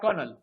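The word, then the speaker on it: colonel: लिफनंट आणि दुसरा शब्द आहे कनल सी एल एन एल कनल American प्रशन आहे कलोल किवा म्हणतात त्या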